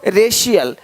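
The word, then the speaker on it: racial: अब देखो, यदि सी के आगे आई ए हो तो सी का उच्चारण श होता है। क्या होता है? श होता है। क्या लिखा हमने? सोशल, सोशल, सोशल। तो यहाँ पे शल हो रहा है, सोशल, है ना? देख रहे हो? रेशियल, रेशियल, देख पा रहे हो?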